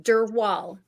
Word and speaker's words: Drwal: future uh my full name how do you pronounce your your last name last name dur wall Dural okay wow so I got it in one